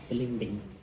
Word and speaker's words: balimbing: Is that how you say it? Yeah, I think that's the Philippine way of saying it. Balimbing.